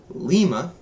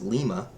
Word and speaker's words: Lima: Hotel India Juliet kilo Lima not Lima it's Lima Mike November Oscar Papa not